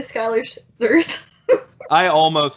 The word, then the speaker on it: Schuyler: After George Washington is revealed, Hamilton joins up with him, and then the Schuler Sisters happens. Schuyler Sisters. I've been saying Schuler Sisters. It's spelled Schuler. It's pronounced Schuyler.